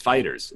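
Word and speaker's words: FighterZ: pedantic and annoy Namco apparently its fighters its fighters like you know hey just so you know in-house we pronounce it fighters well why did you put a Z we don't close Dragon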